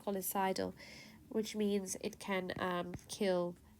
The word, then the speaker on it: scolicidal: saline is important because it's golicidal it's a scolicidal agent if that's how you say it so s-c-l-s-c-o-l-i-c-i-d-a-l it's colicidal which means it can kill and destroy these